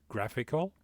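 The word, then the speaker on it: GraphiQL: works with gitlab and it's called graphic graphical that's how they pronounce it if I go in here so you can use actually graphical which is an interactive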